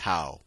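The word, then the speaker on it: τ: ما نسميه عزم الدوران كلمة تنطق "تاو" وتكتب حرف "تي" منحني ويعرف عزم الدوران بأنه حاصل ضرب القوة في المسافة ما هي القوة؟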